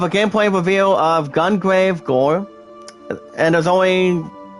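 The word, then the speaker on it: Gungrave G.O.R.E: You guys can also check out an extended cinematic trailer of a gameplay reveal of Gungrave Gore. And there's only 3 dots with the points. It's pronounced as G-O-R-E.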